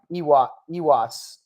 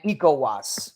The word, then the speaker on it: ECOWAS: countries in the EU African countries in um ewas I I butchered that uh it's not you it's not it's uh not did I say Ewoks and then ecowas right nikowas is a good example of a